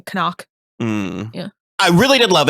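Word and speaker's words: Knock: the boss the Renfield they kept on pronouncing the K at the beginning koock yeah I really did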